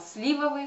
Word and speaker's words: сливовые: русском языке слова рим рекомендует нам употреблять слова сливовые с ударением на первый слог на букву на первую букву и слива так ну и последнее